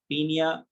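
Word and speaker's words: Paeonia: और ये देखिए सबसे पहली चीज मैं आपको एक्सप्लेन करने वाले हूँ, पियोनिया जेपोनिका, या इसको हम शॉर्ट फॉर्म में बोलते हैं पीनिया ओ साइलेंट, पीनिया जेपोनिका।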